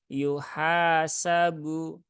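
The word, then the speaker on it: يُحَاسَبُ: ee seperti biasanya kemudian yuhasabu ya hannya Ada Alif maka ini dibaca panjang dua harakat yuhasabu yuhasabu nah gitu ya yuhasabu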